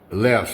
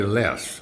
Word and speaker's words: Laos: Some people like to pronounce it Lao, but I'm going to say Laos, all right? I don't really care how you pronounce it, whether it's Laos or Lao. I'm good with either.